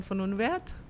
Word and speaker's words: von Unwerth: having me I went von Unwerth saying that ya English in German it's Ellen von Unwerth earlier but okay in